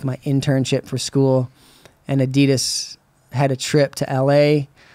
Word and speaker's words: Adidas: Paul Shire from Adidas hooked you up. I always get nervous saying that. I'm going to say it wrong. Adidas. Is that how you say it? Yeah, everybody says Chris Adidas.